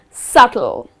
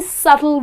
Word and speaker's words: subtle: on the board is subtle again here the letter B which comes in the middle of the word but you need to skip pronouncing that letter and the correct pronunciation